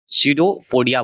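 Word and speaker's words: pseudopodia: रखिएगा इसे आप हम सडोपोडिया बोलते हैं सडीपोडिया बोला जाता है अलग-अलग नाम होता है तो पी से उच्चारण होता है लेकिन बोला जाता है सडोपोडी सडोपोडिया बोलिएगा अच्छा लगेगा तोड़ दीजिएगा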